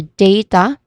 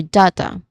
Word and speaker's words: data: So the two common pronunciations are data or data again data or data. Data for I think it's more common in pron uh American English and then data is more common in British English.